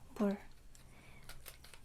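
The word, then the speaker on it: 물: Mul. Mul is water. Mul.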